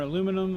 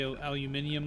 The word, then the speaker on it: aluminium: I couldn't say cinnamon or aluminum. I used to have to say aluminium like the Brits. Aluminium. I feel like it's spelled differently over there.